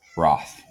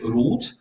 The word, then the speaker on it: Roth: proper way to pronounce Roth? There are many ways, actually. The Germans would say Roth.